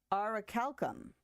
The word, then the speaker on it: orichalcum: Pronounce. Aha! Orichalcum.